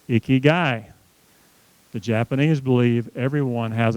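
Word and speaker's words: ikigai: would leave me alone i-k-i-g-a-i is pronounced icky guy the Japanese believe everyone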